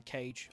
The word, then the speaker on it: C4J3: you can call me Cage. That's how I pronounce it. It's not how it's pronounced. It's a bastardization of letters and numbers. It has no correct pronunciation. So I say it's pronounced Cage.